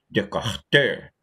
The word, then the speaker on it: Descartes: francês do século 17 chamado werner de ter se escreve rené descartes um chá de certa